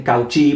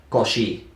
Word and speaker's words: Cauchy: Sé que algunos dicen Cauchy porque así es como se escribe. La forma literal es Cauchy, pero en realidad se pronuncia Cauchy, ¿sí?